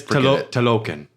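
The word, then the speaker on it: Talokan: Telecon? It's Telocan.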